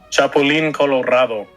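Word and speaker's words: Chapulín Colorado: um Alejandra can you help me with this chapolin Colorado Ah that's how you say it and then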